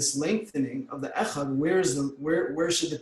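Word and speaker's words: אחד: Concentration of the heart for Shema, lengthen the word echad. The lengthening is specifically on the Dalet. Don't slur the ches.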